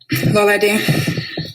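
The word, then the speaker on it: Lolade: Lola D.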